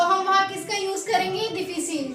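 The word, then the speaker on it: difficile: तो इसे हम पढ़ेंगे डिफिसिल। क्या बोलेंगे? डिफिसिल। और ये है गाइस इसकी प्रोनाउंसिएशन, ये है एग्जैक्ट इसका मीनिंग। इंग्लिश में हम डिफिकल्ट बोलते हैं, लेकिन डिफिकल्ट को फ्रेंच में बोलते हैं डिफिसिल।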